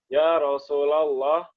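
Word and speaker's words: يا رسول الله: Faqala ya Rasulullah. Enggak, ya Rasulah. Ini banyak orang salah. Enggak boleh ya Rasul. Ya Rasulah, munada mudhaf. Ya Rasulullah.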